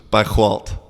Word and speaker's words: Bairro Alto: crazy bro okay it's if you're gonna say it like a Portuguese it's just bike Walt because proper chickies is a crazy language and so like if the word ends in an O you don't really say the Oh the double